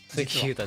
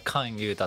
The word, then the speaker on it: 関優太: がいいんですよ、関ユータじゃなくてあれカンユータって読みます、カ